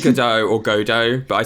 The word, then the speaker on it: Godot: armendo godot oh sorry i say his name godot which is extremely wrong but i can't change how i say it now i've like locked myself into it i think it's good or godot but i say go